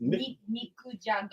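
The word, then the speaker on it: 肉じゃが: Nikujaga.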